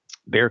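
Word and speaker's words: Bexar: county medical examiner's office bear county it's weird it's one of those names that's it's spelled b-e-x-a-r but it's bare it's like they have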